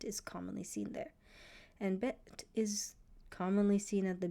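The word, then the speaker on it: בֵּית: You should know the name of the letter bet. When it makes a B sound, vet. When it makes a V sound, the sound of the letters, you should know it makes a B for bet. V for vet.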